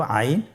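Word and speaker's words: عين: এর মধ্যে একটি হরফ হল আইন। আইন হরফটি উচ্চারণের সময় অবশ্যই তিন আলিফ টেনে পড়তে হবে। এখন আইন হরফটি বারিক হরফ। পাতলা করে পড়তে হবে।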